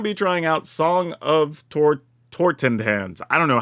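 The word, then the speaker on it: Totentanz: We're also going to be trying out Song of Tortentans. I don't know, how do you say that? Totentans, there you go.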